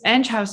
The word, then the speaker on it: Enghouse: maybe you're even wondering how to pronounce it is it enghouse is it end house so it's edge house interactive and um we are